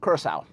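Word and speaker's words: Curaçao: we have blue uh this is pronounced uh curacao even with it's got a little squiggly thing on the bottom to see it's process yeah of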